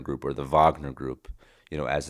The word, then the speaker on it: Wagner: Ukraine and Russia and, you know, the the Wagner group or the Vagner group, you know, as it's pronounced.